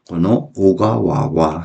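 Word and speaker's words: 小川: 오가와 작은 소천을 오가와라고 읽는 거 조심해 줘야 됩니다.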